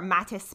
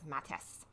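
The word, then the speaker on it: Mattes: as of yesterday I had been calling it Matt's pad so sometimes I if I say Matt's pad or Mattis pad I'm referring to the same thing now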